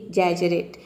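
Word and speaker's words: exaggerate: है word number seven है एजरेट इसको हम प्रोनाउंस करते हैं एजरेट तो देखिए यहां पे इ एक्स ए ये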